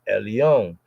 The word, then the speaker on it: El: like in the Hebrew we say l l like L Elon it's like the most high the most high power or God Almighty of the almighty most high L El L remember the L is said like that we don't say l right because it's a it's a Al L but we have a andon so sound like in a full voicing el el from Allah Allah like